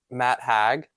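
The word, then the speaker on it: Matt Haig: And my last book is my book club book, which is The Midnight Library by Matt Hag, which this is how you say it.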